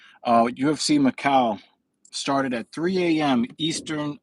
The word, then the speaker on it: Macau: but I'm here on Sunday because uh UFC maau which is in China maau maau wow I really did pronounce that wrong uh UFC Macau started at 3:00 a.m Eastern Standard Time so